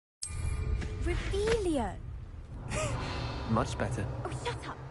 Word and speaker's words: Revelio: Rebellious. You're saying it wrong. Rebellion.